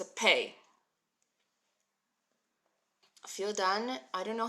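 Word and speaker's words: פה: escape so we're going P so the hey is not silent we're pronouncing the hey but you barely hear it so it's practically silent smania thanks for sharing on Twitter so we've got P right guys and P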